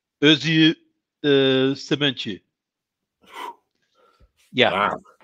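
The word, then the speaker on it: Özge: Okay, so that's a Turkish name. And it's pronounced sort of Özü Sementi.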